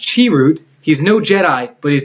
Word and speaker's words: Chirrut: It says, pronounced Chirrut.